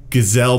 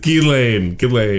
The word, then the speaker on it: Ghislaine: Kelly, Gazelle Maxwell, and Jeffrey Epstein. You don't even know her name. You said Gazelle I Maxwell. have no idea how to say her name. Ghislaine, It's yeah.